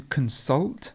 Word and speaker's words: consult: conspiracy and constant constant to consult the stress would be at the end to consult and you